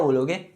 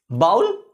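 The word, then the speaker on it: ball: हाँ आप ये तो बोलते हो इसको, लेकिन इट्स a wrong guys, it's wrong sound, it's नॉट a good sound, it's नॉट a real pronunciation. इसको जो असली में पढ़ा था वो क्या है? बॉल। क्या? बॉल।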